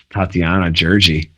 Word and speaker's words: Tatiana Gjergji: stoked to have as our guest today tatiana tatiana georgie am i pronouncing that right yeah you got it all